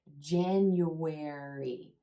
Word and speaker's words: January: yeah yeah genu genu there's this sneaky Y sound in there genu where then as we go into the third syllable the second syllable ends in a vowel sound and the third syllable starts in a vowel sound and there's a what what sound that links those two syllables together Jen you where where sounds like this word where January January the new